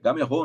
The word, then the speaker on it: Gameiro: Ó, outra pronúncia errado, Carlão é o gênio dos dos nomes aí. Eu realmente não sabia. Gamerrô o nome dele. Gamerrô. A gente chama brasileiro, chama de gameiro, mas é o Gamerrô.